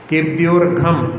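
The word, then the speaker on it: केभ्योऽर्घम्: अर्घम ऐसा पढ़ते हैं, लेकिन इस प्रकार का उच्चारण नहीं किया जाता क्योंकि आकार उसमें लोप हुआ है। तो उसमें पंच कल्याण केभ्योर्घम, केभ्योर्घम आकार लोप हुआ है, ऐसे पढ़ना है।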